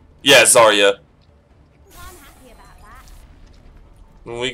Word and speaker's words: Zarya: Zara. I never can pronounce her name. I want to say Zarya. Yeah, Zarya.